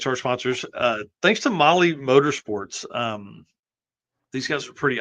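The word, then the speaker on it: MAHLE: And for those podcast listeners, Molly is spelled M-A-H-L-E.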